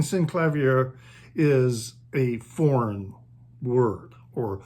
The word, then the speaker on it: Synclavier: In the past, I have tended to say synclavier, and it is, I guess, synclavier, but I just had pronounced it always as synclavier, simply because my introduction to the word was through reading, and I never heard the word spoken by anyone else or pronounced differently.